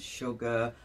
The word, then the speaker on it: sugar: that don't make sense sugar you get the sh sound but it's spelled s u already telling your brain